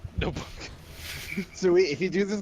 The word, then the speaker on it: Nobunaga: I used to pronounce that Nobunga. Nobunaga.